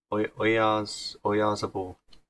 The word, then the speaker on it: Oyarzabal: And then on the left we had the inform Oyarzabal. That's how you pronounce his name.